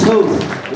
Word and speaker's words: Toth: let you know that everybody gets his name wrong just like everybody gets chuck smiley's name wrong it's toth like toast and the way you can remember that is because you're competing against them you're toast well rusty toth